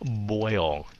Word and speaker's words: boil: like toil and then boil. Spoil. So các bạn cứ đừng có ngại miệng, sợ phát âm nghe nó giống hai âm, mà thật sự mấy cái âm này nghe giống hai âm lắm.